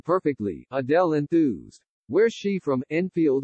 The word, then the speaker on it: Adele: She pronounced my name perfectly, Adele enthused. Where's she from, Enfield or something? The fan seemed to say Adele's name in a North London accent, saying, Adele, instead of, Adele.